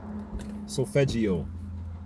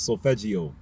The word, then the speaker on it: solfeggio: Solfeggio is how you pronounce that word properly. I was saying solfeggio. It's solfeggio.